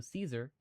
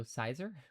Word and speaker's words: Caesar: Romans didn't use the soft C. So Caesar and Kaiser sounded similar. Oh, so Cizer. Cizer and Caesar.